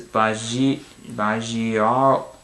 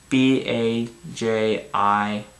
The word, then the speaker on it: Bajirao: Next one is Bajiaro. Okay. Bajirao. That's how you pronounce it.